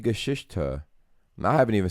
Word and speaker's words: Geschichte: Die Grieche von. Where's the R? Grieche. It's Die Geschichte.